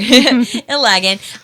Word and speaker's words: Ilagan: Jill Ilagan. Is that how you pronounce it? Ilagan, sorry. Ilagan.